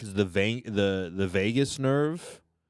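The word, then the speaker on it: vagus: There's um on your neck is the ve the the Vegas nerve. What's that? Not it's not spelled like Vegas, but it's like it's pronounced like Vegas or something.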